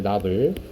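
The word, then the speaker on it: novel: 어떻게 읽니 나이라고 나 나블 소설이라고 할 때는 나블이라고 읽어야 돼 노벨 아닙니다 자 블에서 장면에 읽는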